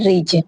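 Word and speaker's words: ridge: जाता है फ्रिज okay next है रिच आर आई डी जी ई रिच remains क्या होती है पर्वतमाला तो यहां पे क्या है डी साइलेंट हो गया।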